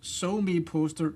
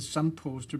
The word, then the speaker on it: SoMePoster: It can be actually both So Me Poster and Som Poster because it's an abbreviation of social media poster.